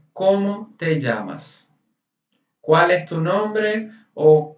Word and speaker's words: llamas: É assim, não seria o certo, llamas, mas todo mundo vai entender, tá tranquilo. O certo seria você fazer um ênfase no, porque são dois L's. Você fazer um ênfase tipo, como te llamas?